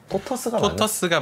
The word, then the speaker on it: 토터스: 발음이 토터스가 맞아요. 톨토스 뭐 이렇게.